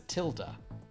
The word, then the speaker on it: tilde: referred to as a tilde, but in Spanish is referred to as a Tilde.